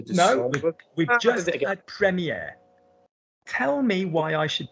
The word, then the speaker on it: premier: Premier. Premier, no première. Good. So nice pronunciation on the no R.